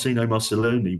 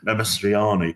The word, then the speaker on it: Mastroianni: And Marcino Marcelloni, well, I've said it wrong, Mastroianni, would have played the hitman, always the guy who Amadou was always going to play the terrorist.